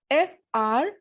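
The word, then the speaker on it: fruit: The second example is F-R-U-I-T. Vowel U is coming in between a word, so the pronunciation will be frui.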